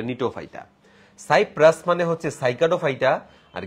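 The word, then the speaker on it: Gnetophyta: দেখো, কণিকা মানে হচ্ছে কনিফেরোফাইটা, নিয়ে মানে হচ্ছে নিটোফাইটা, GNE দিয়ে বানানটা, বাট এটা নিটোফাইটা।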